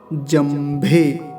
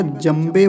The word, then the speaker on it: जंभे: मस्तम दश मस्तम वो जंभे जंभे कुछ लोग जंभे का जमे बना देते हैं ऐसे बकार बोलकर तो ऐसा उच्चारण नहीं करना है जमे नहीं जंभे भे भ का का विशेष ध्यान रखना है अंतिम दध मह दध